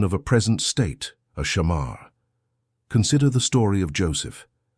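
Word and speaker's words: שָׁמַר: Pronounce it softly with me wherever you are. Shamar.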